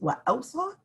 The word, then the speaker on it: وَأَوْصَى: Okay, it's read with an extra letter, pronounced وَأَوْصَى, and also this extra letter is also scribed in some of the masahif.